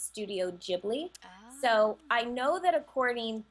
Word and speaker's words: Ghibli: studio that's how the studio pronounces it they pronounce its studio jibley so I know that according to the Italian